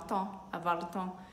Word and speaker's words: temps: E é importante falar que essa expressão tem a palavrinha temps, tempo, e temps se escreve com P e S, mas o P e o S são mudos, tá? A gente não pronuncia.